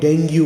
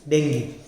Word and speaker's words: dengue: Many people call it dengue also, but the correct pronunciation is dengue.